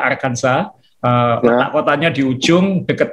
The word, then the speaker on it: Arkansas: jalan-jalan ke bentonville arkansas tulisannya arkansas bacanya arkanza berhak kotanya di ujung